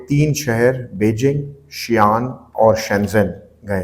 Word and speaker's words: Shenzhen: बड़ा इंपोर्टेंट शहर है जिसको चाइनीज शनजन करके प्रोनाउंस करते हैं और यह हांगकांग का